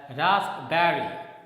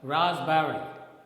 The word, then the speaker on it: raspberry: The next word is raspberry, and generally we speak it as raspberry, but here the sound pa is silent. Okay, it's not spoken. So the correct pronunciation is raspberry. Okay, the next one, Espresso, and generally we speak it as espresso.